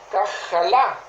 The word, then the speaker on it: Kajalá: Que tiene una raíz hebrea que se llama Kajalá, K-J-A-L-A, con acento en la última A, que significa gastado, desgaste o desgastado, estar débil, enfermo, afligido o enfermarse.